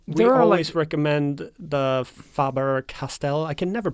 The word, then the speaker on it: Faber-Castell: And yeah, we there are, always recommend the Faber-Castell. I can never pronounce it. Is it it's Faber? German, so. Faber. Faber-Castell.